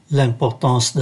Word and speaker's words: L'importance: Và chúng ta để ý ký tự M ở đây phát âm là N, sau bởi nó đứng trước ký tự P.